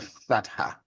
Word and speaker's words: fatha: Like I just said in the word father. All right, that's the fatha.